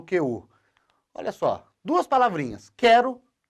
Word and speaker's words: quero: Olha só, o QU eu consegui substituir por um K. E a pronúncia continua quero.